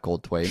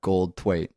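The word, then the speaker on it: Goldthwait: and written by Bobcat gold TW that's how you pronounce that gold TW it's not that hard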